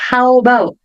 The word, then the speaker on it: about: Veja que aqui eu não vou pronunciar o A. W já vai emendar com o B. Então vai ficar how about? How about?